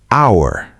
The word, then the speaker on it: hour: Hour, vowel sound, silent H.